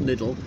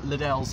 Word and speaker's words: Liddell: but the loop is pronounced liddell not little this former church now